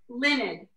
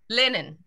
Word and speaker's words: Luned: all the time um it's actually pronounced linen linen thank you so much